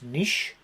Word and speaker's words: niche: So this is where Airbnb has found its niche. The Americans say it's niche, but we say it's niche.